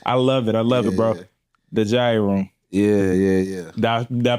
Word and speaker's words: Jaiye Room: The Jaiye Room. Yeah. Did I pronounce it right?